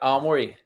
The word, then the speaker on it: Aomori: from Be Easy Brewing in, and I won't pronounce it properly, Aomori. Yep, Aomori.